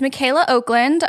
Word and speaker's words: Michaela Okland: You may have recognize her voice, but I'm being joined by Michaela Oakland. Yes, that's how it's pronounced. It's spelled weird. It's Michaela Oakland.